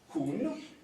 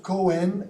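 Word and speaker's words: Coen: In the middle we have Jan Pieterszoon Koen. Good, right. Difficult to pronounce to me, but... So not Cohen as the slide says, right?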